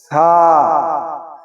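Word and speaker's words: ث: ছা জিহ্বার আগা এবং সামনের উপরের সামনের উপরের দুই দাঁতের আগা। এই দুইটি একলগে লাগিয়ে দিতে হবে।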